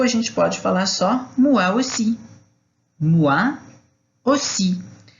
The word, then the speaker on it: moi aussi: E o prazer é meu, a gente pode falar só moi aussi. Moi aussi. Então, o O com I, a pronúncia é UA.